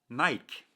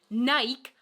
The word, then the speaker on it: Nike: When I first heard Stefan talking about the brand Nike, it just didn't register. I know it's not a big difference. It's not that big of a difference between Nike and Nike.